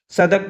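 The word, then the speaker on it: Southwark: House Thames नदी किनारे, ये जो साउथ वॉर्क है इसे हम सदक पढ़ते हैं। सदक। ठीक। साउथ और वार्क दोनों की स्पेलिंग तो दिखाई दे रही है हमें, लेकिन बोला जाता है इसे सदक।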